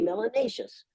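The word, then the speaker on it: melanious: melanin you must be Melanie issues which rhymes with spacious and gracious and efficacious it's a very positive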